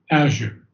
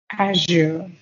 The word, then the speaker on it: azure: good very good now the word Azure you have to on the first syllable Azure Azure Azure very good well it